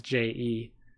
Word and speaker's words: Jeck: It's not spelled the same. It's Jeck, but it's pronounced the same.